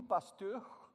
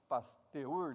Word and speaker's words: Pasteur: a investigar a investigar ele se chamava luis louis pasteur os franceses aí eu tentei caprichar na pronúncia mas é gente na escola falava luiz paz teor revela que andré luis